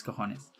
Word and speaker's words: cojones: Because J on Spanish, we say it as H. So it would sound like cojones in English. But when you read in Spanish, it's cojones.